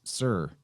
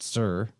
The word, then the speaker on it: Tyre: city of towers and tire by the way is pronounced sir t-y-r-e is pronounced sir which gives us takes